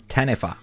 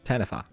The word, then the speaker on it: Taniwha: it in here this is an episode called tanfer but it's actually spelled t a n i wh a but it's pronounced tanfer okay or in Australia and possibly other places